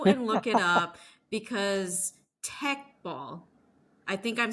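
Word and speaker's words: Teqball: sport yet go and look it up because Tech ball I think I'm saying it correctly te e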